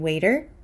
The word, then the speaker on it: waiter: so we have the T in waiter which is between two vowels so I'm going to say waiter waiter however the T in